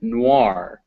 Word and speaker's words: noir: in boy or coin there are some french words in english where it's pronounced wah these always come before an r reservoir and noir are examples of this double o it is